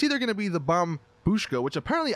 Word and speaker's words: Bombushka: either gonna be the bum Boosh go which apparently I've been saying it wrong this entire time I've been calling it the bomb shuka but I guess it's actually the bomb booshka so my bad on